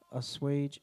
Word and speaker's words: assuage: Assuage. Wait, no, go up. Yeah, it says it right there. That's a long A.